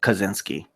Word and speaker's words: Kaczynski: alleged math professor named Theodore kedzinski pronounced Kaczynski he's polish I'm part polish I'm